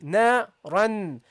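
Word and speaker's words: نارا: You say na-ran, na-ran. You will feel the vibration if you pay attention to it. But what happened here, the letter dhal came after the noon, okay? Which you hear in pronunciation. Na-ran. So what do? You have to now prolong the ghunnah, okay?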